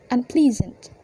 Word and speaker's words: unpleasant: So before and after the prefix un attached, the stress still remains on the ple, so it becomes unpleasant.